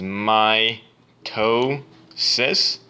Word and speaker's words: mitosis: over on the pronounciation mitosis is my toe sis I do remember you